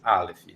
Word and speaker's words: Aleph: A primeira letra do alfabeto hebraico é o Aleph, pronuncia-se Aleph, tá?